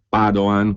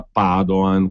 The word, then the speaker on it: Padoan: il ministro dell'economia Piercarlo Padoan con l'accento sulla prima rigorosamente perché non è Veneto